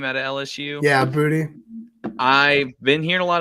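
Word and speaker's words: Boutte: you say his name out of LSU yeah booty I've been hearing a lot of buzz on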